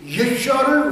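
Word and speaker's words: ישוע: 교회에 함께 모여 10분간 예수님의 히브리어 발음인 예슈아를 외치는 감동적인 장면입니다 얼마 전에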